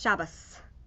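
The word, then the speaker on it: שבת: So Shabbos is going to be in the Yiddish, and then Shabbos Well, actually, it's either Yiddish or it's the Ashkenazi pronunciation of Hebrew, Okay. which is a little different than we usually use the Sephardi pronunciation.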